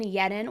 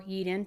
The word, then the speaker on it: Yeadon: For months, police in Yeadon or Yeeden, Pennsylvania, I've seen it pronounced both ways, it's just outside of Philadelphia, they had been investigating a very unusual pattern of crimes.